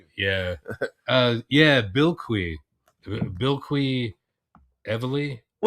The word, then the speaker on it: Bilquis: the book by Tom King, and now I know how to pronounce the artist's first name, Bilquis, cuz that was the name of that planet.